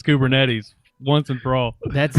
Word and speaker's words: Kubernetes: matter how many times he hears the word kubernetes he always says kubernetics i've quit trying to